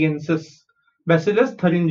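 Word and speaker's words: Bacillus: Isolated from the bacterium बेसिलस थरिनजियेंसिस। Okay, let's see हाउ to pronounce this bacteria. Okay, B ए इज बै, सी आई एन इज सिल, एल यू एस इज लस, बैसिलस।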